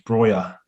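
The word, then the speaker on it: Broja: he's in my team broya is i think it's the way it's pronounced now not bro i was saying bro i think it's breyer yeah in a way he's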